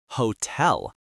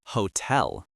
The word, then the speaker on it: hotel: And one pronunciation reminder, hotel, is stressed on the second syllable, hotel, not hotel.